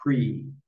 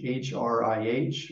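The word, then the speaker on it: Hrih: and it turns into the syllable Hri. And that could be English, H-R-I-H, or if you know what a Sanskrit one looks like, or the Tibetan one, but just Hri, and it's floating in space.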